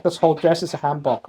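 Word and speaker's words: 한복: This is a doll that we made, and I need to pronounce the Korean names of the dolls, the things, right? So, this is hanbok or hanbok. This whole dress is a hanbok, right?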